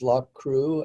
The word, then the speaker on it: Loughcrew: Yeah, this is Loch Crew, and it's up a very steep hill. And that's spelled, I was happy to have the notes because yes.